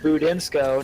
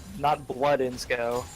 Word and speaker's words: Budinsko: Budinsko, not Bloodinsko.